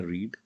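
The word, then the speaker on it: read: रीड, ये पहला वाला जो है वो प्रोनाउंस करते हैं रीड। सेकंड वाला जो प्रोनाउंसिएशन है इसका वो होता है रेड, और थर्ड वाले का भी होता है रेड। लिखने में एक जैसे हैं लेकिन प्रोनाउंसिएशन में अलग अलग हैं, ठीक है।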